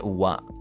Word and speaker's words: は: it in the background it is pronounced as wa it is also pronounced